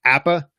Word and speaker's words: APPPA: pasture poultry producers Association we just call it app' is how we pronounce that acronym it's a whole lot